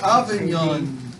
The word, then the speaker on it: Avignon: I'm not gonna spell that. So Avignon, A is in Adam, V is in Victor, I-G-N-O-N, Avignon, the Avignon Papacy.